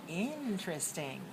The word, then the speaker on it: interesting: okay let's go over this word interesting stress the first word watch me and show me your bodies when you go interesting interesting again interesting ideas